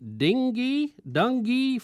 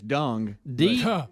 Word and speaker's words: dengue: It is the dengue fever. I don't think it's dung. Well, we don't get that. Listen to how it's pronounced.